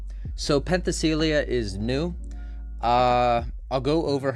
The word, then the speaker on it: Penthesilea: So in this patch we actually got a new character called how do you pronounce her name? Penthesilea. So Penthesilea is new.